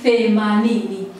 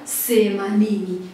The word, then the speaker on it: themanini: Lakini neno lingine linaweza likawa ni themanini. Themanini, akashindwa kulitamka hilo neno themanini, akasema semanini.